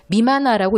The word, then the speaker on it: 任那: 무심결에 자꾸 임나 하지 마시고 일본 서기에 나오는 임나라는 저 한자는 임나라고 읽으시면 안 됩니다. 이만화라고 읽으셔야 돼요.